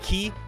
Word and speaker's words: quay: I, for one, dislike the way that Q-U-A-Y is pronounced. The day that I learned that it's pronounced Ki was a terrible day indeed.